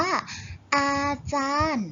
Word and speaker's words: อาจารย์: ยักษ์ การันต์ อ่าน ว่า อาจารย์ เรา จะ ไม่ ออก เสียง ยอ ยักษ์ นะ คะ จะ ออก เสียง ถึง